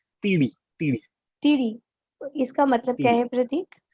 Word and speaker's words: Teedi: विट्ठल टेढ़ी के बारे में बात करें, क्या उसको प्रोनाउंसिएशन क्या है उसका सेकंड वर्ड? इट्स टीडी।